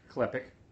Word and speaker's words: Klepek: right waiting for the call from Patrick Patrick klepick that's how you pronounce his name I'm gonna try to get